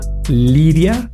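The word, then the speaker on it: Lyria: Google, que se llama Liria 3. Se escribe L Y R I latina A 3, eh, como una lira.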